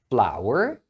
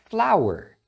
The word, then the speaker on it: flower: Outras duas palavras interessantes são as palavras flower e flower. As duas se pronunciam flour, porém a primeira é a farinha de trigo.